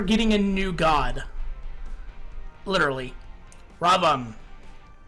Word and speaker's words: Ravana: Ravan. Not Ravana. Ravan. You do not pronounce the A at the end.